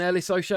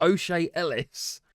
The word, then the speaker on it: O'Shea Ellis: My goodness, it's not even Ellis O'Shea. I've been pronouncing his name wrong the entire time. O'Shea Ellis.